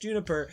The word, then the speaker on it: JNPR: huntresses alongside Team CRDL, pronounced Cardinal, Team JNPR, pronounced Juniper, Team SSSN, pronounced Sun, Sailor Moon?